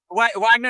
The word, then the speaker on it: Wagner: Is it Wagner or should we pronounce it dramatically? Which continent are we on? So yes, uh Wagner is good.